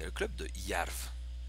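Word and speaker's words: Jerv: Ensuite, il y a le club de Yarv. Je crois que ça se prononce Yarv.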